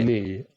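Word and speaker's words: 鬼: Is it Oni? Omi? Oni? How do you say it? Oni. Oni. Oni, right.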